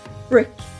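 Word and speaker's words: Brique: And I've also had the Brick, which is spelled B-R-I-Q-U-E, I believe, which perhaps is French, I'm not quite sure. I didn't do languages at school apart from Irish. So, Brick.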